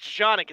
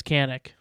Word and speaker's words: Canik: mold yes sonic shanick it's pronounced shonic it's turkish it's goddammit it's canic because in america it doesn't matter how you pronounce it in your country um it's sushi not sashi it is what it is so we're in america it's canik tufu isn't too it